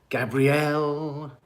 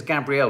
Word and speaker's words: Gabrielle: Gabrielle. Am I pronouncing it correctly, Gabrielle? It is Gabrielle, not Gabriel, isn't it?